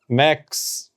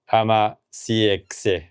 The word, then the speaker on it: Amacx: AX pronounced, uh, AAX with a CX and not AMA CX.